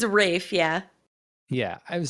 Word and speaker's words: Ralph: fines is it not ray fines it's a rafe yeah yeah i would say i've i've heard but it's it's spelled that way it's spelled like ralph but